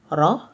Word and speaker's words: র: R is pronounced like R in run in English.